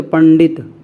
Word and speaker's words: पंडित: ये आ रहा है, तो जो इस अनुस्वार का जो उच्चारण होगा, जो ध्वनि निकलेगी, जो ध्वनि निकलेगी वो अड़ा निकलेगी, अड़ा। ठीक है, तो पंडित, पंडित है ना, ये ध्यान रखिएगा।